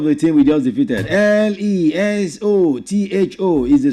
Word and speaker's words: Lesotho: It is pronounced, you see, the last O is actually pronounced like oo. Like when you want to pronounce zoo, ooh.